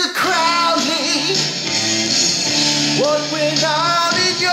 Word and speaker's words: Crowley: of alist Crowley and his family name may be pronounced Crawley but I say Crowley as Azie Osborne did in his song to keep this film